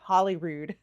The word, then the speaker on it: Holyrood: Holyrood, which some of you guys have been telling me I was pronouncing it right all along, Holyrood.